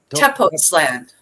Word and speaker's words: Tepoztlán: So I looked up where you were, and I have trouble pronouncing it. Tepoztlán.